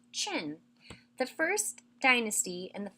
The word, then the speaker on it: Qin: after another the Qin Dynasty yes it is pronounced chin the first dynasty and the first emperor to